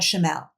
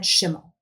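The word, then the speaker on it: Schimel: so sorry about that I said Brad shl and it's Brad shimel Brad shimel is the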